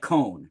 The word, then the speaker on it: Cohen: a very or it's it's pronounced like conen right Cohen is a very